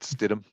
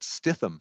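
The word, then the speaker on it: Stidham: Uh, you know, and Justin Herbert and and now Jared Stidum. Um, I got to learn how to say his name. Is it Stidum or is it Stithithm? It's Stitm, right?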